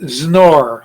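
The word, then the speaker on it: XNOR: We write it as that word, which is pronounced snore, like you're going to snore yourself when you're sleeping.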